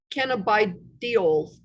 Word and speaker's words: cannabidiol: CBD stands for sorry, I'm going to mispronounce this, cannabidiol.